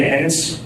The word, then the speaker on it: Ennis: My name is Ennis, E-N-N-I-S. Thank you. It rhymes with tennis, not other words.